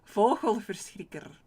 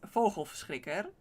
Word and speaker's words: vogelverschrikker: It is vogelverschrikker. That's like the original one. Vogelverschrikker. But I sometimes like to do like a soft G. Because it's fun. And a soft G is more Belgian, like Flemish, or the south part of the Netherlands.